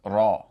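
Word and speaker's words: رَ: So together, the Ra and Fatha would be pronounced Ra.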